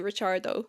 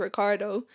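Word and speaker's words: Ricciardo: changed his second name the pronunciation is obviously richardo cuz it's an Italian second name he changed it to Ricardo when he was like living in Australia or whatever so cuz it was easier to pronounce I guess for people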